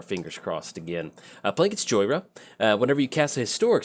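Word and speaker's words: Jhoira: Playing against Joyra, or if you're a fan of the channel, Johora. That's how I pronounced it the first time I played her, so...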